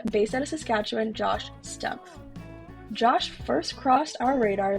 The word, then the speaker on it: Stumpf: Stump. Exactly how it's spelled.